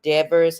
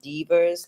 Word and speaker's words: Devers: She pronounces her last name Devers and not Devers, like Gail Devers.